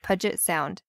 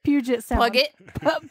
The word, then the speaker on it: Puget Sound: hill and afforded us a beautiful view of pudget sound and had three stories hold on sorry wait wait wait wait Puget Puget pug Puget Sound pudget you said pudget P Puget Puget okay